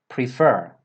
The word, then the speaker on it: prefer: the verb is prefer prefer first of all let's look at the stress pattern the stress comes on the second syllable prefer prefer and what about the